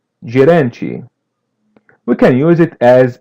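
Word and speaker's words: gerente: The n is a light n and letter t is pronounced as chi. Geranchi.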